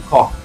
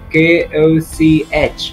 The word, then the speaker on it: Koch: throughout the video that I have been pronouncing the surname K-O-C-H as Koch. But as a matter of fact, some of my relatives who are living in Germany have kept me informed that the surname is to be pronounced as Koch.